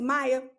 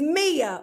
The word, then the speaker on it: Mia: I said her name was Maya. She ain't deserving of Maya. Her name is Mia, okay?